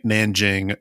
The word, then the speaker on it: Nanking: For pronunciation's sake, Nanking, Nanjing, same place, depending on how you pronounce it and whatnot. But just because Iris Chang's book, The Rape of Nanking, is Nanking, I call it Nanking.